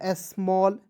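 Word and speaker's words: small: से म होता है, ALL का उच्चारण ऑल के रूप में करेंगे, क्या हो जाएगा, स्मॉल, ठीक है।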